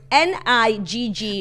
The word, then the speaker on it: Niggun: But it's pronounced Niggoon, like goon at the end.